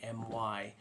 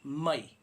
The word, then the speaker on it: mai: not I okay so it's a short type rather than a long loose pronunciation of I it's I almost like